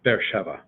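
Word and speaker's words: Be'er Sheva: air Sheva usually that's if you slow it down it sounds like that bet air two two consonants are two syllables but air shiva but usually it's all run together bear Sheva Ramon on the first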